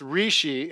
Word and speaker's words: Reishi: Okay, so I believe it's pronounced reishi, and it's a mushroom, actually.